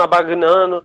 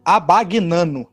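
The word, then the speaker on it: Abbagnano: É abagnano. Eu não sei como se pronuncia, mas é abagnano com 2 Bs e o G mudo.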